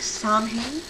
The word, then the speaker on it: Samhain: Now for those who've seen the name, it's pronounced, well, it looks like samhain, but it's Gaelic.